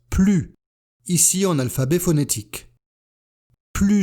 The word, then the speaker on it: plus: Avec des adjectifs et des adverbes, on prononce plus, ici en alphabet phonétique. Plus jeune, plus petit, plus facilement. Et on fait la liaison si l'adjectif ou l'adverbe commence par une voyelle. On prononcera donc plus intelligemment, plus agréablement, plus utile.